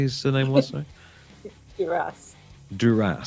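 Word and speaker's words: Duris: of your man Romain Dupree, as I say. What did you say his surname was? Duras, sorry. Duras, like the House of Duras in Star Trek.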